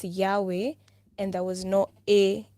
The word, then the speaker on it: Yahweh: was y-w-h so like when you pronounce that it's like like the way you breathe in and breathe out so and they were